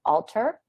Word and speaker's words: Alter: i'm super excited to be chatting with alter that's how the correct pronunciation of your last name right yes perfect